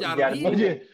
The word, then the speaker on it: Jardine: Se pronuncia Jardine.